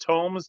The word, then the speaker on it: Thomes: It's pronounced Tomes, Tomes.